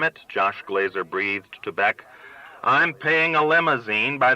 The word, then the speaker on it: Bech: "Henry Bech," he read, pronouncing it Bech, and Bech confusedly stood.